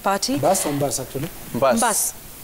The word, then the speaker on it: Mbas: Mbas. Mbas. It's a bus, but it's pronounced as bus.